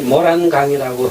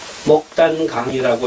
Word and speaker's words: 목단강: 읽어야 된다라고 알고 있습니다 그러나이 중국의 목단강을 발음할 적에는 굳이 모란 강이라고 해서는 안 되겠다라는 것이 제 생각입니다 목단강이라고 읽어야 된다 왜이 목장강의 원래 이름이